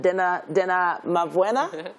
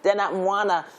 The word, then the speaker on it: Dena Mwana: Dena Mavwena? No, Mwana. Dena Mwana, and several others.